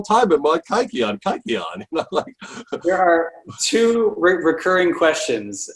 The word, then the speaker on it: kykeon: i pronounce it it's it's not the way a modern greek would pronounce it i have what's what's